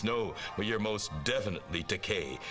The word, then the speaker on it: Takei: me from behind his desk and said, George Takei. And so that sort of set me at ease, because my name is pronounced Takei, although Takei is a legitimate Japanese word.